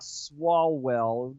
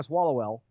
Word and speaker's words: Swalwell: Because if you go, it's not Swalwell, you have to say it slowly to get it right. Mm-hmm. If you say it fast, it's Erica Swallowell, and then you're like, oh, that's not right.